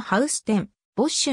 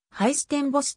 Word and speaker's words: Huis ten Bosch: ているちなみにオランダ語のハウス天ボッシュの発音は日本語では正確に発音を再現することが困難でありはいステンボスとも表記される場合がある 1733